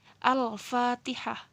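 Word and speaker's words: الفاتحة: hukumnya izhar qamariyah ya dibacanya harus jelas seperti ini tadi al fatihah al kalau dalam bahasa latinnya tulisannya persis seperti ini tulisannya seperti ini kita hai al-fatihah yo yah jadi awalnya itu dibaca jelas alif dan lam nih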